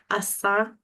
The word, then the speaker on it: Asdzą: me and and she is the owner of Assa Consulting um and if I mispronounced that um please correct me nalis um